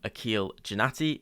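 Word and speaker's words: Aqil Janaty: open up LinkedIn and search in my name Akil jatti which is spelled a q i l space j a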